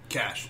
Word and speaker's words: Kasch: I guess I should have started before, but is it pronounced Kasch? Kasch. Yeah. All right, so Kasch.